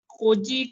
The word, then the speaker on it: خوجی: پہلے تو یہ دیکھ لیجئے یہ لفظ خوجی نہیں ہے بلکہ خوجی ہے. خوجی.